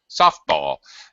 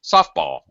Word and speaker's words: softball: suddenly and quickly it it's like stair steps it drops very quickly um it's not blended into high low it's just dropped softball okay um let's see